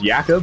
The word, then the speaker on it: Jakub: I was like, is it actually pronounced Jakub? And he was all like, yeah, man. I was like, okay, I'm gonna just call you that.